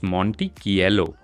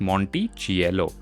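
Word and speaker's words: Monticchiello: नाउ CH in Italian is pronounced as C, meaning it's Monticello, not Monticello.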